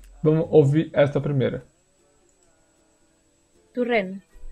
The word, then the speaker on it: Torrent: Turren. Turren. Ó, de novo. Lembra que esse O aqui tem som de U? É a mesma coisa. Esse aqui vai ter som de U também.